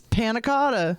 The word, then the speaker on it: panna cotta: they do, but but having a more fancy extension name is more fun to pronounce. Nick George. We'll call him that. Nick George. School dropout. Panna cotta. It's panna cotta.